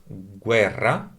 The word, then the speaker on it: guerra: On the tonic accent of the word guerra, so syllable guer, that falls here on